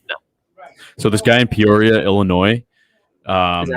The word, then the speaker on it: Peoria: So this guy in Peoria, Illinois. Is that how you pronounce that? Yeah, Peoria.